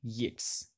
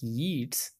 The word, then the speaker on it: Yeats: Second Coming by William Yates and I used to pronounce it like Yeats but it's a yeah it's like gates okay it's a ballad